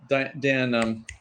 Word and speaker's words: Dan: And of course, the Mexican pronunciation, they don't have the ah sound for Dan, right?